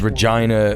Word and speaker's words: Regina: The actual town motto is Regina, the place that rhymes with fun.